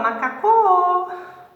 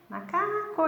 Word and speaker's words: macaco: Ou eu falo macacô, macacô, macacô. Eu falo assim? Não, né? Eu falo macaco, macaco. Então é o K, né?